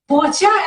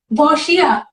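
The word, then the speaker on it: boccia: Bocha, am I saying it right? Is it bocha? यस, यू Okay, कैन से बोछा और बोशिया। boshia, या बोशिया।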